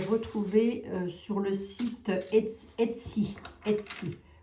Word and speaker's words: Etsy: Etsy. E-T-S-Y. Si je prononce bien.